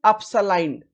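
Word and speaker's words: epsilon: क्या है इस सिंबल का प्रोनाउंसिएशन? अपसलाइन, अपसलाइन, sigma and अपसलाइन।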